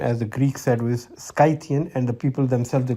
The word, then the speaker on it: Scythian: skythian tribe now some people call it the scythians but the correct pronunciation as the greek service skythian and the people themselves they call themselves suckas